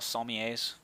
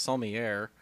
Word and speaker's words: sommelier: So are football analysts like football sommeliers? I think it's pronounced sommelier. Whatever. It's not pronounced how it's spelled.